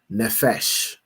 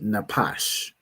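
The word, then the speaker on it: נפש: Here pronounce the word as nephesh because you know the the the Jewish man pronounce his p as a fa as an f because he's a fool, right? But this word would be napash, right?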